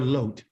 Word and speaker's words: Lot: is what seed is the seed of lot or loat the proper pronunciation the Creator was interested